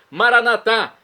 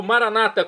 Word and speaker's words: maranatá: E agora eu clamo do aramaico, o dialeto de Jesus, maranatá, como dizemos nós católicos, ou maranata, como dizem nossos irmãos separados das comunidades evangélicas ou protestantes. Não importa a pronúncia, o significado é o mesmo.